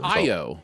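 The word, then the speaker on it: Ayo: from the bear whose name I'm intimidated to pronounce IO it's IO yeah it's IO um I love her so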